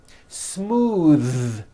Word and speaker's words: smooth: Smooth. Believe it or not, the TH sound in smooth is voiced. Most foreign speakers say this word incorrectly. They say smooth with an unvoiced TH, but it's voiced.